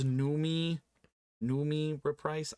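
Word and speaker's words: Noomi: um I think it's numi numi rep price I always thought it was Naomi but it's two o's that looks like new me to me um I'm unfamiliar with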